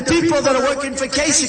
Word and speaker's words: Kasich: So they formed this coalition of Cruz against Kasich. Even though it's pronounced ICH, it's Kasich with a K, like with a K, okay? Think about K.